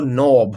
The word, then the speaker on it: knob: सो I went to the door and turned the door knob. Knob का के silent है, to open the door.